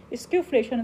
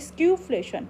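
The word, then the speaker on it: skewflation: स्क्यूफ्लेशन इसको pronouns करते हैं, स्क्यूफ्लेशन, क्या करते हैं, स्क्यूफ्लेशन, स्क्यूफ्लेशन।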